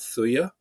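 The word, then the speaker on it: Thuja: there's there's a a remedy homeopathic remedy called thuya. Uh and it's spelled t h u j a and uh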